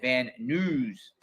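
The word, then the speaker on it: Van Nuys: This flight flights agent Joseph C to and from Las Vegas to Vanise. He pronounces it van news.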